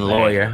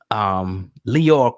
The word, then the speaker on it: Lyor: I'll say it right, Lyor, because people was getting me in the comments saying lawyer. You know, whatever. I heard some people say lawyer, whatever.